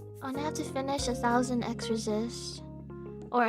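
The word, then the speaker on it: 1000xRESIST: I have to finish 1,000 x resist or a thousand times resist that's how it's actually supposed to be pronounced and I never played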